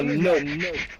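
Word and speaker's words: Knope: No, his name is now Nope. Because the K is silent.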